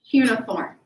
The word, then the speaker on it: cuneiform: Well, the term here is they do what's called cuneiform.